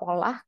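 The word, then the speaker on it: עולה: Pengucapannya adalah olah kalau digunakan sebagai kata benda, tetapi Allah, pengucapan Allah itu kalau sebagai kata kerja, yang artinya menaikkan atau mempersembahkan korban bakaran gitu.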